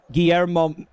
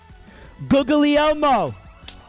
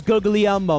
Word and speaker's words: Guglielmo: A lot of people pronounce it Guillermo Macaroni, which is racist. It's Marconi. Not very poggers. Guglielmo. No, his name is Guglielmo Marconi. Guglielmo. That's absolutely correct.